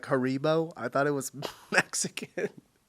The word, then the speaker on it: Haribo: We pronounce it Hari. Haribo.